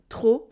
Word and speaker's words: trop: Informally, we also use trop for too much with the silent P to mean très for very.